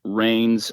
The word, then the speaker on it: Raynes: Yeah, no, it's Raynes.